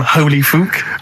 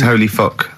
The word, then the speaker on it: Holy Fuck: Please, can we have more Holy Fook? You're not pronouncing it right, I Steve. know. I was just a bit edgy there. It's Holy Fuck, the little Chinese fella.